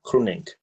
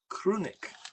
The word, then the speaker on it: Groenink: Groenink. Groenink. So it's almost a C at the beginning.